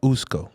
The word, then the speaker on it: Usko: and you are the owner CEO yes of usco correct did I pronounce that one right too you pronounced that